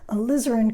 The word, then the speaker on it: alizarin: grouping your alizarin crimson accent on the liz alizarin crimson is translucent the